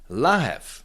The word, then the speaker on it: lahev: it is pronounced the la that's a bottle. V becomes F because it's at the end of the word and rope that is